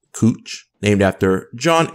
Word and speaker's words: Couch: Portland Oregon they have a street spelled couch that's pronounced cooch named after John H